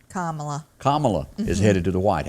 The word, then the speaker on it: Kamala: I mean, Joe Biden and Kamala or Camilla, or however you Camilla, how do you say her name? Kamala. Kamala is headed to the White House.